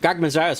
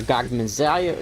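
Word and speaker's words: Gogmazios: had, you know, like, Gogmazias is the only Elder Dragon we've had so far. Or Gogmaziah, you know, I pronounce it that way.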